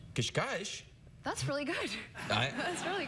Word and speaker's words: Cascais: I grew up in a town called Cascais. Cascais.